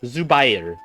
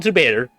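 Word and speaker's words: Zubayr: it's Zu it is Zu it is pronounced zubay not zuer zubier off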